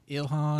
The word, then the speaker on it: Ilhan: Ilhan.